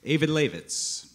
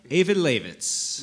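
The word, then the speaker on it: Eyjafjallajökull: So what we have here is a glacier in Iceland, pronounced Eyvindarlaxvits. It took me a long time to... Say that again, Evan. Eyvindarlaxvits.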